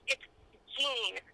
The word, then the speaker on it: Jean: So, yes, it's Jean. But if you're going to call me the French pronunciation, it's actually Jen for females.